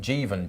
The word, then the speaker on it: Jeevan: Just for a correction, I got a pronunciation wrong, so it's Jeevan Channel 26, so Jeevan's Channel 26 asked that question earlier, so corrected me on his pronunciation.